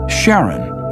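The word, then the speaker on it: Charon: christie suggested the name karen after the ferryman of pluto's underworld in greek mythology but preferred to pronounce it sharon more like his wife's name charlene from the motions of pluto and sharon astronomers could work out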